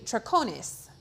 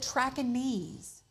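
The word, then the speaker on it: Traconiz: fluent in Spanish but I would think it would be traconis fraconis they pronounce it track and knees which sounds Vietnamese or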